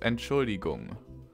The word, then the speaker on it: Entschuldigung: It's pronounced Entschuldigung.